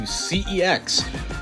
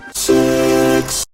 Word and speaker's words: CeX: headed back to CEX, or as some of you actually told me it's pronounced, CEX. You might think I'm joking, but I'm actually not. That's actually how it's pronounced under advertisements and other media.